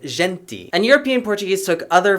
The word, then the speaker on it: gente: that european portuguese did which shifted to the uh sound leading to a pronunciation of a word like gente instead of genti and european portuguese took